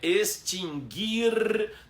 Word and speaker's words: extinguir: São 3 verbos em que o U não é pronunciado. É extinguir, distinguir e adquirir.